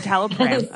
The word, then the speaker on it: citalopram: But I realized within like 9 months ish, I was like, Lauren says it's citalopram. Yes, citalopram. Okay, it's not a fram.